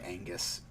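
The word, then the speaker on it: Oengus: to it it's on angus which is uh not spelled like the word angus but i am led to believe that it's pronounced like angus um o e n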